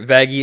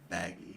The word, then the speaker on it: Vaggie: bomb on us where vaggie is an angel yeah that was definitely uh huh they reveal like oh hey come on vagina or whatever vag vagi vagi it's pronounced vaggie vaggie yep that's what it is